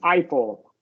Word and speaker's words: Eiffel: And this is pronounced Eiffel.